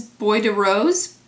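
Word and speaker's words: Bois de Rose: name sorry this is Boy de Rose but it'Bo De Rose boy I know I'm pretty sure you don't pronounce the S but it'Bo the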